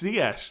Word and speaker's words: Ziyech: Greg Lee, Ziyech is Ziyech, but I've got it. It's Ziyech. That's how you pronounce that.